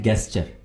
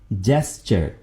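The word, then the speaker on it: gesture: इशारा करना जेस्चर आमतौर पर दो सिस्तों को गलत प्रोनाउंस करते हैं। बोलते हैं गेस्चर यानी ये साउंड देते हैं। गेस्चर जो कि बिल्कुल गलत है। सही लफज़ क्या है? सही कैसे बोलेंगे? जेस्चर जीम है यहां पर।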